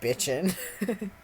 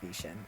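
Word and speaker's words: Bichen: Please do not pronounce it like bitchin'. Yeah. I know how to pronounce bishin. I'm good. I know it's not bitchin'.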